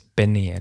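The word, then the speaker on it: Beneil: But it's Benil, isn't it?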